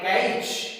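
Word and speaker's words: catch: Word में साथ में आए तब भी टी साइलेंट रहता है। जैसे हम बात करते हैं कैच, कैच का मतलब होता है पकड़ना, यहाँ पे टीसीएच साथ में है।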